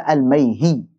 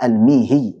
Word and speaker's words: Al-Mihi: Sebagian membaca Al-Maihi, Maihi, yang lebih tepat adalah Al-Mihi dengan kasrah. Mimnya dikasrahkan.